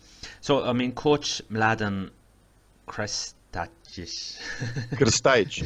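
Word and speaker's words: Krstajić: So I mean, coach Mladen Krstajic. Krstajic. It's very difficult to pronounce. The correct pronunciation is Krstajic.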